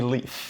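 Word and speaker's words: Lyfe: L-Y-F-E, leaf.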